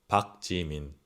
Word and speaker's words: 박지민: 지민, 박지민. 박지민. It might sound like a P, but it's not a Park Jimin, okay? It's Park Jimin. Please don't say it's close to a park.